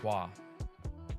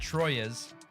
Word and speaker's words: Troyes: My mind was blown when I found out that that's pronounced Twa. Not Troyes. Twa. Twa. Or at least that's what I heard. Please correct me if I'm wrong.